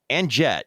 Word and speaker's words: Anjette: But today's story of um Anjette, is that how you pronounce her name?